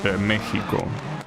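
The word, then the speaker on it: México: Mexico is always mispronounced. Yes, that is true. That's because in I don't know exactly how it works. like maybe it was like that in like in older dialects, but the ed in Mexican Spanish is pronounced like uh well like it was an H I guess in English, right? It's Mexico.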